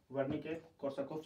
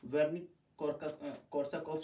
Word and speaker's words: Wernicke-Korsakoff: Spelling is not correct, but the pronunciation like that, Wernicke-Korsakoff syndrome.